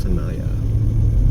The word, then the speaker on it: Tanaya: green light here at Tanaya t n a y a pronounced Tanaya at least that's what the locals have told me the locals are very